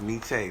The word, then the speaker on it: Nietzsche: Nietzsche, Quayshawn says Nietzsche. That's how you Nietzsche?